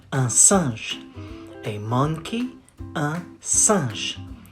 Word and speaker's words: singe: You say un singe. A monkey, un singe. Singe, singe, singe. The final E is silent, so you say singe.